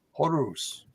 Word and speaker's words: Horus: And by the way, Mayor, I've seen his name pronounced several times, especially back in Lucha Underground and Ring of Honor, and they all said Horus.